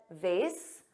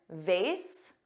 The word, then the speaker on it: vase: now notice I said vas both pronunciations vas which rhymes with face and vas which has